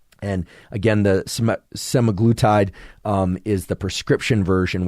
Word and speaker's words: semaglutide: uh such as somatic I can never pronounce this can't seem to pronounce many things it seems uh semaglutide is the the way I would pronounce it in any case this